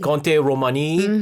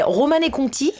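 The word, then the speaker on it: Romanée-Conti: Conte Romani, Beatrice. Yes, very, very expensive. That was a very bad pronunciation, huh? I was bad in French. You said Conte Romani. Romane Conti. Romane Conti.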